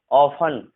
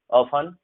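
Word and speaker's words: often: है, wrestle, Christmas, नेसल, ऑफन, सॉफन, एफ के बाद अगर टी होता है तो भी टी साइलेंट जनरली होता है, ये ध्यान रखना है आपको, ऑफन, सॉफन, ठीक है, क्लियर है स्टूडेंट।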